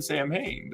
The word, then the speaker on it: Samhain: It's the Nog is actually pronounced no. I did not know this. I said Sam Hain forever, so don't shoot me.